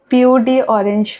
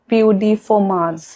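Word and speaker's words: peau d'orange: Other than that एक symptom होता है जिसको POD ऑरेंज बोलते हैं। एक्चुअली ये एक फ्रेंच वर्ड है, इसका प्रोनाउंसिएशन इज POD फॉर्माज।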